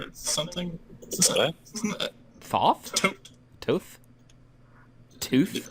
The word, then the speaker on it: Thoth: tote? Tooth? Tooth? It's like pronounced tote, I believe, because it's all weird in Egyptian, and calling it weird is probably incredibly culturally insensitive.